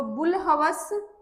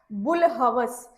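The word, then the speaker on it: بوالہوس: सी ये बन गया बुल हवस अब इसमें क्या है कि वाव और अलिफ क्या है साइलेंट है इस लफ्ज में बे को पढ़ना है लाम के साथ ह और व और स तो चलिए मैं यहां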